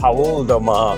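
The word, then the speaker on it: Paul do Mar: Paul de Mar, with the correct pronunciation.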